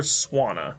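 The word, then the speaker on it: Swanna: water flying type essentially I threw you guys by pronouncing it SW but it's really swana because it's a swan what gen seven two I'm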